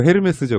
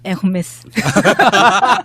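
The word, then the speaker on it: Hermès: 헤르메스가 어딨어요? 아, 예, 그러니까. 나도 처음에 이제 스펠링방 보고 헤르메스죠? 그랬더니 막 웃으면서 그렇게 하면 무식하다는 소리 듣는다고. 뭐라고 해야 되죠? 네, 에르메스.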